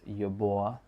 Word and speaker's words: Yubo: And uh in the case of Yubo, it's not Yubo, it's Yuba like that.